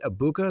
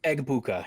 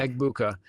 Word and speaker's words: Egbuka: Is it Abuka? Is that how you say his name? Egbuka, yeah. Egbuka.